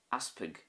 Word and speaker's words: easpag: Aspig is bishop, aspig. Again, not a great stress on the first part.